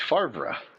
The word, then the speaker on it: Favre: I just uh can't root for a guy that doesn't know how to pronounce his own last name. It's Fra.